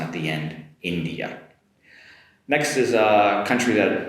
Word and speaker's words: India: Next up, different vowel sound here in English. It's India India compared to Japanese which is インド（In’dow）so India. Different vowel sound at the end. India.